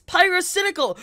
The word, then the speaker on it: Pyrocynical: did you just got pirates in a girl's name wrong are you serious everybody knows it's pyrocynical or you could just call it pyro why